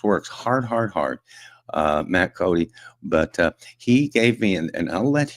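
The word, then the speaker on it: Coday: Uh it's spelled C O D A Y and it's pronounced Cody.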